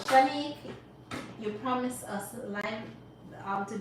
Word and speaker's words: Shanique: Do use my code Shanique10 for $58. Did you know I give my daughter your name, but it's written Shanique? Oh, love it. It's spelled Shanick, Shanique.